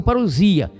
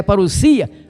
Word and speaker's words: parousia: A pronúncia é parousia, porque a letra grega é sigma e não z paria.